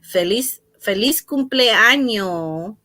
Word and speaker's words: Feliz cumpleaños: Feliz cumpleaños.